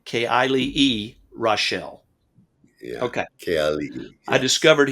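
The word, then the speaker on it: Keali'i Reichel: male voices and I'm going to let you pronounce his name again because I can't say it correctly. Keali'i Raichel. Keali'i Raichel.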